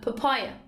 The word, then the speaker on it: papaya: Number ten, papaya, papaya. Stress روی سیلاب دومه, papaya, پاپایای خربوزه درختی.